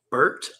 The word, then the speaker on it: Bert: Yeah, missed Bert Auburn missed two. Burnt Auburn or Bert? Bert, like Burt Reynolds. Just spelled with E-R-T, not like Bert and Ernie, I guess, at that point.